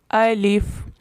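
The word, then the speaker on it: ألف: پہلا حرف ہے الف۔ اس کو الف اس طرح اردو کے لہجے میں نہیں پڑھنا، اس کو عربی لہجے میں پڑھنا ہے۔ الف۔ آپ چاہیں تو میرے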